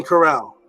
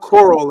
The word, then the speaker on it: corral: It's corral. Not coral like the coral reef, not the ocean, but corral.